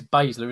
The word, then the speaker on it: Baszler: It is Baszler, isn't it? I'm pronouncing it right, yeah.